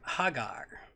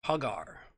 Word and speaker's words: Hagar: Hagar it's interesting anyway if the name is ha gar huh gar that's the pronunciation that they've got here hey Jay er